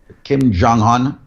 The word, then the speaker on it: Kim Jong-un: And if people are wondering what we're talking about, I don't know how you pronounce his name, Kim Jong-un, whatever his name is. Kim Jong-un? Kim Jong-un. Okay. Kim Jong-un.